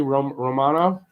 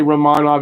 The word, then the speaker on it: Romanov: fans in that arena romano i'm trying to say romanov every time because that's how his name is pronounced so at least he's